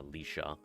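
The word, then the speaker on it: Laoise: in and it's uh the likeness of uh Leisha gotcha and Lea's spell l a o i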